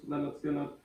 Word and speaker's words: Lynyrd Skynyrd: it's going to be this one leonard's gonna pronounce leonard skinner the first album but then the debut album